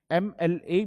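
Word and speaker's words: MLA: के लिए यहां पर एम एल ए में पहले एम आ रहा है पर इसका उच्चारण तो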